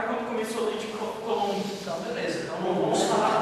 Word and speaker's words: Coulomb: Como se pronuncia? Coulomb.